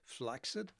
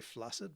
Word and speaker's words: flaccid: Flaxid. Some people say flaccid, but flaxid is the correct pronunciation or the original pronunciations not even worth fighting about anymore.